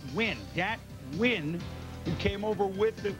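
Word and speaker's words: Dat Nguyen: UCLA goes to the Chiefs and data it's pronounced win dat win who came over with it well his parent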